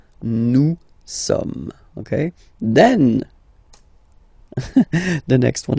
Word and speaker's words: sommes: Nous sommes, okay? Nous sommes, okay? So you don't pronounce the final S here. It doesn't exist. Sommes. Nous sommes, okay?